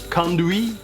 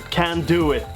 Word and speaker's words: conduit: To me that sounds kind of French, conduit, but I'm told that it's pronounced can do it.